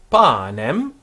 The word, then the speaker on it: panem: Panem, also a long A on panem.